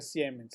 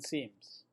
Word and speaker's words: siemens: micro sims son siete no se pronuncia siemens se pronuncia en sims unos microsismos o los